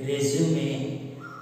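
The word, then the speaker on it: résumé: ஆக ரெசியூம், R-E-S-U-M-E-ங்கிறது உச்சரிப்பு ஒன்று ரெசியூமே, அதான் பர்சனல் டீடைல்ஸ்.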